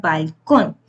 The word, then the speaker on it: balcón: En este caso tenemos la palabra balcón. Con sería la sílaba tónica.